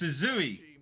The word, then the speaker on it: Suzui: It's Suzui.